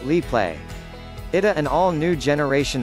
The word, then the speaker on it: Instax Mini Liplay: absolutely adore the Fujifilm Instax Mini Lee play pronounced Li play it an all new generation of hybrid instant